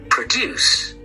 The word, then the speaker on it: produce: Produce. Produce. Produce is read on the second syllable.